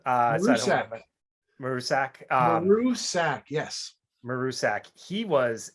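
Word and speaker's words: Maruscak: I mean, Grainger, Hines, again, we mentioned Damien, and I don't know how to pronounce his last name. Marusak. Marusak.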